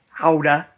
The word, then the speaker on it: Gouda: So, I got to Gouda, which is pronounced Houda, um couple days ago.